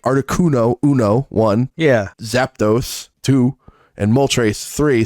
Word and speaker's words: Zapdos: color I I did zapados which is uh intin you keep adding an extra syllable it's Zapdos I did I really do